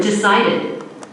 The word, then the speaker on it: decided: second syllable for example the word decided decided the stressed syllable sigh sigh unstressed first syllable d d d unstressed last syllable d d d make them as short as possible decided another word example Dada